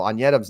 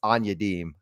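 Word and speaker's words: Onyedim: with Tyler Anam also anam's not how you pronounce his last name that's anadem found that in the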